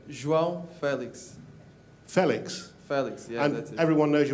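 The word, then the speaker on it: João Félix: your name wrong what your name oh you pronounce it wrong could you tell us how to say your name Joel Felix Felix Felix everyone knows he was Felix is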